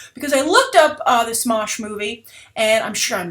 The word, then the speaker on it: Smosh: Because I looked up the Smosh movie, and I'm sure I'm mispronouncing it. I just have a feeling that it's like maybe Smoosh? No, Smosh.